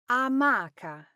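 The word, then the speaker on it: amaca: Well, the correct version is amaka. Now, this is another super common mistake in Italian pronunciation. The stress in hammock or a marker is on the second syllable.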